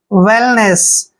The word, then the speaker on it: wellness: Next word WELLNESS, देखिए W का उच्चारण वह करेंगे, E को ए की मात्रा पढ़ते हैं, LL को ले पढ़ते हैं, वेल। N का उच्चारण न करेंगे, E को ए की मात्रा पढ़ेंगे और SS को से पढ़ेंगे, वेलनेस। वेलनेस होता है स्वस्थता, यानी